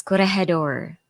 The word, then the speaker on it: Corregidor: That's pronounced as Corregidor.